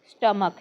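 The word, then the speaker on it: stomach: ST chest म्हणतो chest स्टमक हे पोट स्टमक एसटी ओ एम ए सी एच स्टमक स्टमक एच ला silent करायचंय स्टमक एल्बो इ एल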